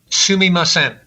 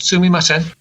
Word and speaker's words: sumimasen: Sumimasen.